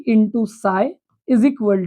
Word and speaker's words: साई: ये जो साई है, जो दोनों जगह पे लिखा हुआ है, जिसको PSI स्पेलिंग है लेकिन इसको साई पी साइलेंट पढ़ा जाता है, इसको वेव फंक्शन बोलते हैं।